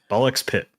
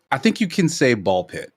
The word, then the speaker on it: BALL x PIT: Ball X Pit. We sure X is pronounced. It's not just ballpit.